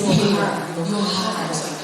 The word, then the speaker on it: Johann: Tanpa berlama lagi, kami tampilkan untuk CV dari narasumber seminar pada hari ini, Romo Johann Ferdinand West Johann. Ini tulisannya Johann tapi dibacanya Johann ya.